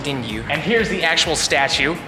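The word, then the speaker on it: デンリュウ: by a few people it's called dingu I want to say is how you say it's name in Japanese so we call it aneros but they call it dingu and here's the actual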